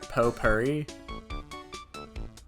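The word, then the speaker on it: potpourri: making up words now it's pronounced po Purry I don't speak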